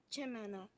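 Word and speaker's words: chimenea: To pronounce the word in Spanish is chimena.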